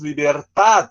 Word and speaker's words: libertad: Algumas palavras que ele falava na Espanha, né, principalmente os substantivos, libertad, que em espanhol tem o D mudo, o Borges, né, se